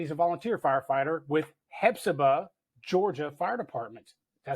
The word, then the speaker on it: Hephzibah: Now, Marc is a career captain with West Columbia, South Carolina Fire Department, and he's a volunteer firefighter with Hephzibah, Georgia Fire Department.